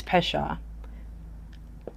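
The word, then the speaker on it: פשע: The word for transgression is pesha.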